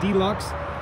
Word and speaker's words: Dlux: us on our instagram at deluxe it's spelled d-l-u-x underscore motorsports so at underscore d-locks underscore motorsports that's our